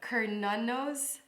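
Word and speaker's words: Cernunnos: history of sir nunos so um sir nunos pronounced hernanos also known as herni is a Celtic stack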